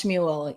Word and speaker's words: Shmuel: And it's hard because it looks like, SHMUEL, like it can be said a bunch of different ways. Yeah. Just think of like Muel, like Shmuel.